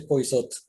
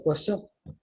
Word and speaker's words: Poisot: Bueno, aquí es Poisot. Originalmente era Poisot. Es de origen francés, de una población pequeñita que se llama Champly.